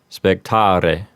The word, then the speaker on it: spectare: If you're using ecclesiastical pronunciation, you would want to roll the R in spectare, and the E at the end would sound like the E in bet.